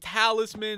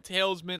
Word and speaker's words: talisman: oriented towards Skyblock so like talisman instead of saying tails men I don't know why